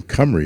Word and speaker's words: Cymru: So, as you heard, I'm Director of Public Sector Sales for Team Cymru is actually how that's pronounced. It's a Welsh name.